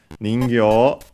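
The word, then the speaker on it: 人形: Ningyo, I think it's unaccented, but we'll check, means doll, puppet. Let's see, yes, unaccented.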